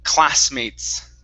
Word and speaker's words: classmates: This word here, make sure to pronounce the S on the end. The word is classmates. Classmates. There you go.